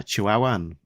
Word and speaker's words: Chihuahuan: Uh it's like the the dog the Chihuahua uh Chihuahuan I'm going to guess the desert came first.